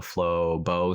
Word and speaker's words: Flowbo: corporate you know and i want it to be two syllables so flow bow sounds okay and then i said